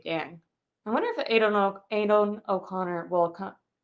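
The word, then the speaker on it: Aidan O'Connell: I wonder if Adon Adon o Conor will come Adon oconor that's how you say his name will come in for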